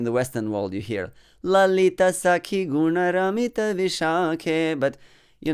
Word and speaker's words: Lalita: Vishakhe, but you know, it's not Lalita, it's Lalita, okay? It's not Radhika, it's Radhika. Very often we have to restructure our system, you know, in order to get used to the right pronunciation of Sanskrit words, especially those that have long vowel at the end.